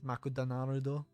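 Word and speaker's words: マクドナルド: my name it's like it's like mcdonald's in japanese is makuta naruto but that's really long and hard to say so in in japan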